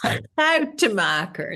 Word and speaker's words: Schoutemaker: And your name is impossible for an English person to even guess how it could be pronounced. Yes. Schoutemaker.